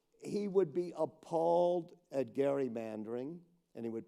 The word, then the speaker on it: gerrymandering: He would be appalled at gerrymandering, and he would pronounce it correctly like I did, because Albert